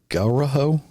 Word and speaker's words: Ngauruhoe: Here's another name that I'm going to ruin, because it's the name of a mountain in New Zealand, and I believe it's pronounced Ngauruhoe, Mount Ngauruhoe.